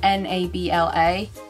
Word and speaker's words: Nabla: The brand is called, okay, it's either Nabla or Nabla. I don't know how you pronounce it. It's N-A-B-L-A.